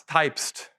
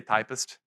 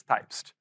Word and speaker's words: Typst: So what's Typst? The first thing is it's a weird way to pronounce it, but it's on their website. I used to say Typist.